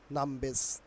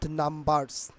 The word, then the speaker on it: numbers: ওকে, এখানে আর এর পরে দেখো একটি কনসোনেন্ট থাকার কারণে আর will be silent hair. But আর এর পরে যদি ভাওয়েল থাকতো তাহলে আর এখানে উচ্চারিত হতো, বাট সেই জন্য নাম্বারসের উচ্চারণ হবে নামবেস।